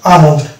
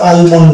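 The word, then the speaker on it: almond: এর আগে ভাইল এ, এবং আমন্ড, এটা কিন্তু আলমন্ড না, এটা হচ্ছে আমন্ড। তাহলে ডিয়ার ফ্রেন্ডস, আমরা পেলাম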